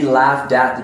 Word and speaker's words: laughed at: An American would pronounce this, he laughed at the joke. So when we finish with the T and it's the T sound, then it starts again the next word with a vowel.